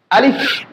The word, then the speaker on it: আলিফ: এটা কিভাবে উচ্চারণ করতে হয় দেখেন। আলিফ, আলিফ এই হরফের মধ্যে আমরা বাতাস বাইরে করে দিচ্ছি। আলিফ এমন একটা হরফ যে এখানে কোনো টান হবে না, এই হরফে কোনো টান দেওয়া যাবে না।